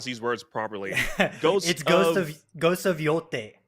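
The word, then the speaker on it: Yōtei: It's you know how to pronounce these words properly. Ghost of Yote. Yote.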